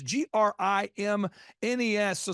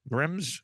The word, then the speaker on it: Grimnes: He's like, "Think of it as like the grimness of the situation."